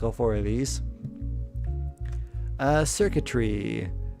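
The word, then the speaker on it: Xurkitree: Circuitry. It's like a tree, but circuits and circuitry. Like CIRCUITRY, but it's spelled in its actual name with X.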